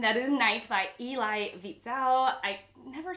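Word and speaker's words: Wiesel: is night by eli vitzell i never say his name right i always call i know the w is pronounced as a v vitsal okay so um but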